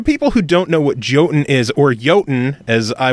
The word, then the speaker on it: Jotun: So I say Jotun because I just don't want people searching Y-O-T-U-N on Google and Steam and stores and stuff. So okay, we'll go Jotun then. Myself, I'm already butchering the Old Norse heritage.